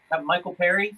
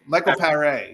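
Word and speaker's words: Michael Paré: Perry, Michael Perry from uh Eddie and the Cruisers. Um M Pereé. Michael Pereé.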